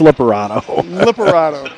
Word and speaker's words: Liparado: So they just said his name, Liparado. It's spelled 2 different ways here today in our in our notes, so we don't. But it's Liparado. Yeah.